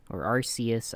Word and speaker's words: Arceus: I did, I went through the, because Pokemon Legends Arceus, I don't know how to pronounce, I always said Arceus, but. That sounds right.